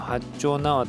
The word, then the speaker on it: 八丁畷: 書きますよ八丁畷大阪にもね四條畷ってなるんでそれを知っているとまあ八丁畷って読むんだろうなってのはまああの簡単に想像できるかと思います